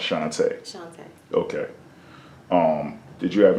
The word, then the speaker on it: Shantá: okay so let me hear you say it shantae how is it spelled s-h-a-n-t-a okay and do